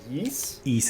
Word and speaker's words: Ys: but there's a lot how do you say that franchise name the why yes is it yeast is how i do it but yeah that's how i say it everybody can yell at